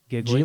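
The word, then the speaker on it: Gigli: Yeah, isn't that like one of the worst reviewed Geely? movies of all time or something? Yeah. I believe it's pronounced Giggly. Geely?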